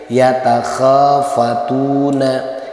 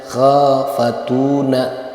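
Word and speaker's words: يَتَخَافَتُونَ: Yatakhafatuna. Yatakhafatuna. Kho fatuna. Kho dengan tu sama panjangnya. Kenapa k dibaca panjang? Karena fathah bertemu dengan alif. Kenapa tu dibaca panjang? Karena doma bertemu dengan wau su sukun.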